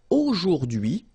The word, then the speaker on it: aujourd'hui: H is not pronounced, so you only get this dui thing.